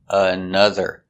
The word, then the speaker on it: another: Again, the O pronounced another. So we have the sound two times.